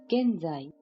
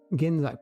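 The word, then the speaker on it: 現在: Genzai. Genzai.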